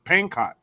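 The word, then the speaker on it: Pankot: to Bangkok Palace or Peng I think it's pancott p-a-n-k-o-t pancott yeah it's it's it's uh the B is silent as an uh uh as in Fox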